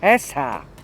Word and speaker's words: اصحى: Esha. So you have the ha strong.